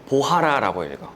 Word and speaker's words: Bora: - It's an EP album and the title track [In English, it's Bora, but pronounced 'bohara'] - is Bora, but it's Portugese, so you read it bohara.